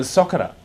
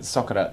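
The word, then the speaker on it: socarrat: Yeah, well, see Spanish name for that crunchy base is the socera. Yeah. Now I don't know how you exactly pronounce it, but socera sounds about right.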